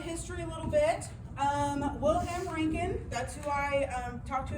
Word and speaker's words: Röntgen: Röntgen. Röntgen? Röntgen.